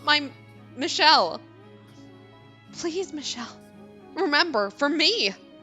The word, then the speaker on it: Michel: You are Michael, are you not? Then is my name, yes. Okay, so it was supposed to be pronounced Michelle.